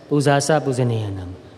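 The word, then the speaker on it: pūjā ca pūjanīyānaṃ: Pujacha Pujaneyanam. We Burmese pronounce that as Pujasa Pujaneyanam.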